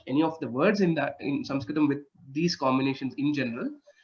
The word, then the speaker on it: Sanskrit: I have heard various pronunciations, Sanskrit and Samskrit. Which one is correct? Okay, so there is also a regional influence which happens. So Sanskrit, some of the North Indian speaking people would say that.